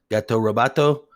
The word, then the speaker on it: Gato Roboto: I told him, is it Goto or Roboto? And he says, yeah. No, it's a Gato. Hey, it's Gato Roboto, and everybody knows it. Okay? It's spelled Gato, Gato, even though Roboto is Oto.